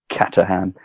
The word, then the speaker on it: Caterham: Yeah, Caterham.